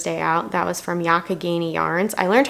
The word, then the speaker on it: Youghiogheny: That was from Youghiogheny yarns. I learned how to pronounce it correctly. It is not Youghiogheny, it's Youghiogheny. So yeah, other than that, not much else happened today.